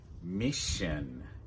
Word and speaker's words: mission: "Mission" "Mission" a "mission" In the word mission the double s is pronounced like Like in "should" and "wish" So we've got "mission" only two syllables "Mission" "mission" The "-ion"